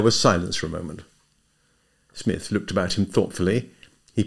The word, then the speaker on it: Psmith: "Smith." The P is silent.